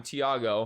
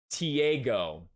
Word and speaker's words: Tiago: it or not, it's the most mispronounced way to say my name. When I say, hi, I'm Tiago, the next response is this name, Tiago. Yeah. I'm not even kidding you. If they're not Hispanic, 99% of the time, they will mispronounce my name the first time and say Tiago.